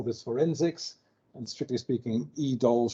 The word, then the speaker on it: EDOL: We call this forensics, and strictly speaking, EDOL should have been called EDOLF because it's also forensics, but that sounded too much like a sort of 21st century Nazi, so the F is silent.